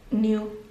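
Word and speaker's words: Nuit: You are the high priestess of the goddess New, how do you even pronounce? N-U-I-E-T, basically like night in French, I think it was.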